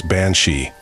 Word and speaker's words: banshee: bansi comes from the Irish words being CI pronounce bansi meaning woman of the fairy Mound these fairy